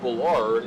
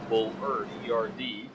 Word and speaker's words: Bullard: uh for saying that bullard is not pronounced bullard it is bull or erd uh we will make